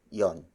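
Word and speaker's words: 'yon: who and that is followed by the word Yong Yong Yong Yong is spelled as ' why ho n it means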